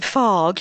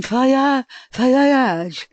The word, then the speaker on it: Fage: I pronounce it Fage, F-A-G-E. My kids go to school with that, but it's not that. It's the Greek pronunciation, Fayage.